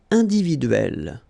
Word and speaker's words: individuelle: So remember when you get this and then double consonant, and especially here it's the same one, that's the idea. It will open the sound of so you will pronounce it like é.